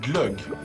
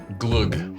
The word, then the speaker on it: glögg: Yeah, it's Christmas time, so we'll be drinking a lot of glögg. Glug. Glögg. You can pronounce it whichever way you want, but you'll end up with the same product.